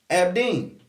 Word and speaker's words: Abdin: Abdin. Ab, like all those abs you got.